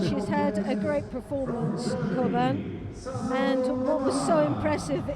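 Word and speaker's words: Çoban: She pronounces the name Koban. Yes. So Choban is the Turkish pronunciation, and it's a Turkish name. So I think we're going to go with the way that she likes it said, which is Koban, Koban because is the that's way what she- she's accustomed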